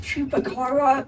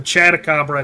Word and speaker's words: Chatacabra: Isn't it pronounced Chupacabra or whatever? No. No. Because it's not the same. It's not a Chupacabra in the first place. It's a Chatacabra. It's a monster in this game.